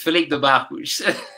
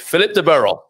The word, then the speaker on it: Filipe de Barros: In Portuguese, Filipe de Barros. And then in English, Filipe de Barros.